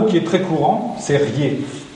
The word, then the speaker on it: riez: Alors, un mot qui est très courant, c'est riez, écrit souvent R-I-E-Z. Donc, dans la zone picardophone des Ardennes, on dit des riez au féminin.